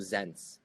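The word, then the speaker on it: Xense: with a company called zens and it is spelled as x e n s e it's like human census but with an x in front it's like more of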